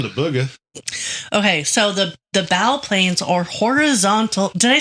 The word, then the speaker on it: bow planes: It's spelled like bow, and I've always heard it as bow because I'm not a nautical person who says bow. So here's the thing with that. It's clearly bow.